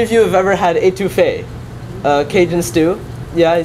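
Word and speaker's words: étouffée: louisiana how many of you have ever had etouffee uh cajun stew yeah i see a few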